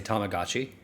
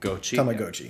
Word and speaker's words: Tamagotchi: Yeah, no, we just say it like Americans, but we've said it as Tamagotchi, like and everybody has said it around as Tamagotchi, so it's going to be Tamagotchi.